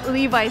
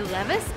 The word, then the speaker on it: Levi's: So now I remember that it's Levi's, but some people tell me that it's actually Levi's, so we're gonna go in and try to find out. How do you pronounce Levi's correctly? You said it was Levi's. Levi's? Yeah, so Levi's. It's not Levi's? No, it's Levi's. Because somebody tells me like the correct way would be Levi's because it's a...